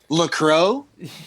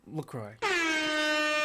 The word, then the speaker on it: LaCroix: LaCroix?